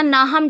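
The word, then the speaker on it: Nahum: लेकिन आपको नाहूम टेट नामक लेखक को भी ध्यान में रखना चाहिए। सही? नाहूम। इसका उच्चारण नाहम टेट है।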